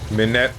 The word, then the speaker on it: Minette: is the name manette it's manette like the fish because she is a